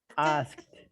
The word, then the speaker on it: asked: Asked.